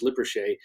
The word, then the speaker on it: Lippershey: There was an optician, an expert at making lenses and eyeglasses, and his name was Hans Lippershey, sometimes spelled Lipperhay, the different pronunciations there.